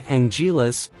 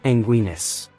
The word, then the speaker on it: Anguirus: And Godzilla versus Gigan all call him Angilas. While in Godzilla Final Wars, the pronunciation sounds like Anguinis. Another alternative name, Angillis, appears in the international